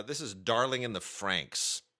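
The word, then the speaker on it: FRANXX: is Darling in the Franks Franks is spelled f r anxx this is a really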